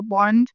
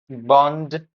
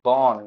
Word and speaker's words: born: I think everyone's love the place when where you were born. Bond. She said Bond. What is Bond? It's actually born, right? So, when you say born, it's born. Born. Born. This is the correct pronunciation.